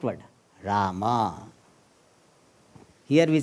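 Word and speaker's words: राम: This is a problem of this pronunciation. In North India, they will say Ram, Ram, Ram, Ram. Here what they will say? Rama, Rama, Rama, Rama.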